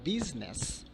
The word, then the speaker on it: business: Okay, I is normally not found to be silent letter, but in a particular word like business, we have the I letter as silent letter.